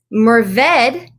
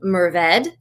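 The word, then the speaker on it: Mourvèdre: You will hear this pronounced Mourvedre as well. It is a French word, so I like to say there's no right way to say it. There's just a little bit of a spectrum. I say Mourvedre, and that's what I'm comfortable with.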